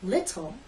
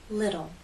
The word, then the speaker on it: little: you've probably noticed that Americans do not say little we say little what happened to the